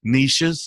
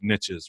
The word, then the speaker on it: niche: you hear on louder Nisha's apologist depending on where you're from but it doesn't rhyme with riches so we got a we got to say it as niches right so it's it's